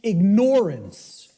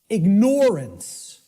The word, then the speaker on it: ignorance: the way it's pronounced I tell people start pronouncing it ignorance ignorance then people will hear the word ignore in it and and the connotation